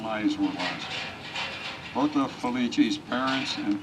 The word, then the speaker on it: Felice: In Italian, the name's pronounced Felice.